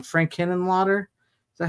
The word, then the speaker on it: Henenlotter: Frank Henenlotter. Is that how you say his name? Yeah, Henenlotter, who also did Frankenhooker and Brain Damage.